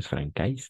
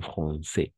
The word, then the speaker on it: français: Ne es francais, sino français.